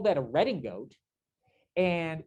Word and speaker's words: redingote: And we call that a redingote. And it comes from the French mispronouncing riding coat.